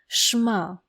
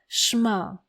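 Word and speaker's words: שמע: Schma. Try to repeat after me. Schma.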